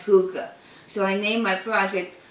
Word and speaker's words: hygge: way i would pronounce it because i would pronounce it high e right but it's pronounced hookah so i named my project hygge like a